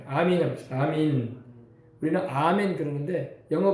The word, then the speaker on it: 아멘: 아멘. 그래서 아멘으로 시작해서 아멘으로 찬양이 끝나요. 아멘이라는 말은 이제 히브리어로 아민이라고 해요. 아민이라고 합시다. 아민. 우리는 아멘 그러는데 영어 발음이 원래 에이멘 해가지고 아멘이라고 발음이 되는데 우리는 히브리 발음으로는 아민.